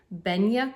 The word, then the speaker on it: Benja: I'm not sure if it's available anywhere else, but it's by Benya Kirk. That's spelled Benja.